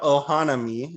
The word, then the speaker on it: Ohanami: And yeah, no, correcting myself, Ohanami is probably the correct pronunciation. It just came out wrong because I broke up the syllables.